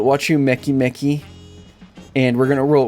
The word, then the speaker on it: Wachumeqimeqi: pronounce it a bit differently is watch you makey makey. Yes, I'm serious. That's actually what it's supposed to be. And so you could make the argument that that's how I'm supposed to be pronouncing it, but you know that doesn't really make sense considering the way that they pronounce keys and stuff. So, I'm going to call it watch you Mecky Mecky and we're going to roll with it.